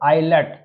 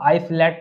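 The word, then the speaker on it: islet: टापू और यहां पर आईलेट तो बहुत से लोग आइस लेट भी पढ़ते हैं तो यहां पर आई और एल के बीच में क्या है एस है तो यहां पर आईलेट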